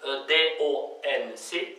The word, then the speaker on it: donc: Слово donc пишется с 4 букв. D-O-N-C, donc. Мягко, не забудьте только на правильно произносить. Donc, donc, donc.